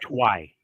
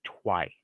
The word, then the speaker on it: Tuoui: doesn't But change you the pronunciation of it, by the way. right, you corrected me. You called it the twi. Right, you told me it was a twi stone, and as a component to a bigger